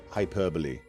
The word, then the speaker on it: hyperbole: That's how you say hyperbole. No e sound at the end.